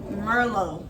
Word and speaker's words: Merlot: mer merloy Miss Merlo Merlo so I'm going to put that on the screen so y'all can know it's pronoun I mean it's spelled Merlot but it's pronounced Merlo okay let's put this